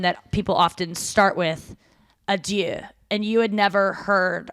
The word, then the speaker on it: adieu: Yeah, like you're not even saying it right. You're saying I do.